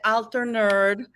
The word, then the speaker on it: Alter Nerd: I am so happy to have Stefania, Steph, the altar nerd. For some reason, my language it's always so funny. Am I saying it correctly? Altar nerd. Yeah, you are.